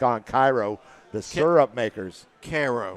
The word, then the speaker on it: Cairo: Cairo the syrup makers Koo it's Cairo the Georgia dog gave me the correct pronunciation well the guy that signs my paychecks from Georgia and he says Koo I said yes sir